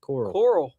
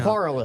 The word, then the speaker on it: Corolla: Coral. No, How do you s- Corolla. They say it down there. Corolla? Dude, Yeah. they've said Oh, wait. The beach, Corolla. Corolla, the beach It's town. Corolla.